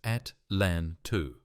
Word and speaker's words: Atlanta: He was transferred to a training position in Atlanta, pronounced at LAN 2.